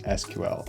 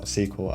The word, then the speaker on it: SQL: So arguably the most important language to know is SQL or SQL as some people pronounce it. Doesn't really matter how you say it.